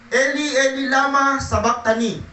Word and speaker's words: Eli, Eli, lama sabachthani: Mateo chapter 27 verse 46 at saka Marcos chapter 15 verse 34, nang mag-iikato ng hapon, sumigaw si Jesus, Eli, Eli, lama sabachthani. Yan ho ang pinakabigkas niyan sa Hebrew.